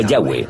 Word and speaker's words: Yahweh: Pensamos que probablemente se pronunciaba Yahweh o algo así.